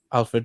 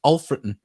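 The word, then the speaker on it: Alfreton: club but not alfred it's uh alf alfred but pronounced alfredon so we've been saying it wrong all right the first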